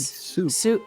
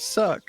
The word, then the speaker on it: suc: It's It's cherry juice called souk. Souk. Souk. S u souk devis. Yes. Is that how you pronounce that? Yes. Calling it suck.